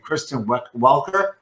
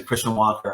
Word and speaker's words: Kristen Welker: the last debate is named kristen welker and i just everyone was pronouncing christian walker on tv freaking me out they were listening this slightly gently mispronouncing with like a accent it sounds like christian walker that's hilarious that's fantastic